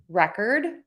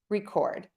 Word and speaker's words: record: Present, object, produce, record. All right, so easy breezy. Syllable number 1, we stress in the noun. Syllable number 2, we stress in the verb.